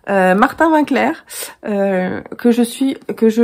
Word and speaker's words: Martin Winckler: martin winckler having clair je ne sais pas comment ça se prononce mais ça se prononce à la française apparemment martin winckler que je suis que